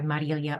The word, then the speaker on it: Marilia: Yeah, I go by Marilia or Mari.